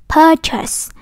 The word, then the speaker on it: purchase: Mà đọc là purchase, purchase. Các em thấy chữ ơ này mà nó hai chấm rồi đúng không? Đó, cô đọc dài đó.